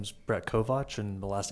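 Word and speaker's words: Kovach: Yes, my name is Brett Kovatch and the last name is spelled K O V A C H and business address is 100 St.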